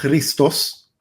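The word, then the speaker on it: Χριστός: Bueno, la palabra Cristo viene del griego, que en el griego se pronuncia Christos, y la palabra Christos es la traducción de la palabra hebrea Mashiach.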